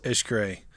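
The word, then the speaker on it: Xcaret: went to which was Ish gray that's correct like x-c-a-r-e-t is how it's spelled they had a boat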